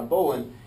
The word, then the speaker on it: bowline: This is called an end of the line bowline. Some people call it a bow line. That's how it's spelled, is bow line, B-O-W-L-I-N-E.